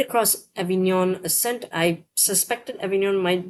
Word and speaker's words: Avignon: Oh, sorry, not Avignon. Avignon.